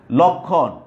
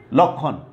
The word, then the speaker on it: লক্ষণ: তো আমরা বলছিলাম যে যদি শব্দের শুরুতে বা আদিতে বা প্রথমে অ থাকে এবং তারপরে যদি ক্ষীয় ম এই বর্ণটা থাকে, তাহলে আদ্য অ এর উচ্চারণও কি হয়? উকারান্ত বা উকারের মতো হয়।